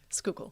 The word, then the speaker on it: Schuylkill: 900 feet over the schoolkill that's fine if you say school kill a little bit that's fine schuylkill school yeah just kind of all mushed together okay i'll just put